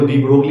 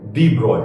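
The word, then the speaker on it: de Broglie: ओ जी एल आई अब बोलने को दी ब्रोगली ही बोल देते हैं हिंदी में भी बोल देते हैं लेकिन करेक्ट है डी ब्रॉय प्रो स्पेलिंग वही रहेगी प्रोनंसिएशन डी ब्रॉय खैर जाने दीजिए यहां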